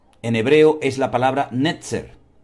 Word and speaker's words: netzer: la palabra vástago en hebreo es la palabra netzer netzer n e t Z e r netzer y